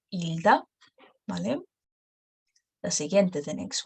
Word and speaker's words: Hilda: Hilda. But don't pronounce the first letter. Hilda.